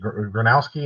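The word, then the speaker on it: Gronowski: Granowski is how you say his name.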